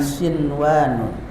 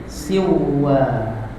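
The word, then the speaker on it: صنوان: idgham tapi diizharkan bacanya contoh lafaz dunya dan sin waun di sini ada nun mati bertemu apa wau enggak boleh dibaca gini siwwa harus sinwa itu dikecualikan di dalam hukum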